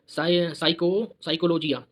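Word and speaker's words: psychology: साइकोलॉजी लिखते क्या आता? पी आता पहले, पी। तो पी इसमें साइलेंट है, इसलिए क्या कहते हैं?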